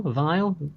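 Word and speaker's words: Weil: Vile. Vile, isn't it? Vile. It spelled whale, but it's pronounced vile.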